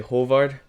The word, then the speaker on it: Haavard: I pronounce it right if I say hovard is that better yeah hovard is hovard is pretty close yeah there you go